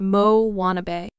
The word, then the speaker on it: Moanabe: On the fictional South Pacific islet of Motunui, there now exists a variety of tween girl known as the Moanabe, pronounced Mo Wannabe.